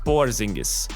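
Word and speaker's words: Porziņģis: Now, in addition to that 2023 squad, they'll have their biggest star, Kristoff Porzingis. And yes, that's how you actually pronounce his name.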